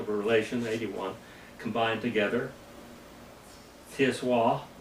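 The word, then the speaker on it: tsiwwah: Tiswa, Tiswah, T-S-I-W-A-H, is how you pronounce this, Tiswa.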